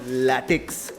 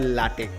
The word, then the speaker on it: LaTeX: আর আশা করি ভালো আছো, আর ভালো না থাকলে ভালো তো আজকে নিশ্চয়ই হয়ে যাবে, কারণ ল্যাটেক্স না, অ্যাকচুয়ালি প্রোনাউন্সিয়েশনটা হয় লাটেক।